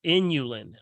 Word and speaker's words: inulin: the things that have this this element called inulin i-n-u-l-i-n inulin inulin keeps them moist keeps the